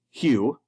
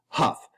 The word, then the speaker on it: Huff: It is not pronounced. I am not a garden tool. And it certainly is not pronounced, although if you saw me at an all-you-can-eat pizza buffet, you might beg to differ. It is pronounced huff. So just like the big bad wolf, he huffed and puffed and blew down the pigs' houses, I am Dr.